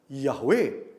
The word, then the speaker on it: Yahweh: Yang diucapkan Yahweh dalam bahasa Ibrani.